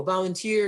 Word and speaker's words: volunteer: each other about oh volunteer is a three three third syllable stress on three and tomato is a